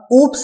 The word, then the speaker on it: OOP: incorrect statement why because there is no any word of oops in our programming world right even there is a lot of people who is pronunciating like this it is a oops language right they have some misunderstanding that it's not a oops right oops is nothing oop is there right oop is there we need to pronounce it oop language the meaning of loop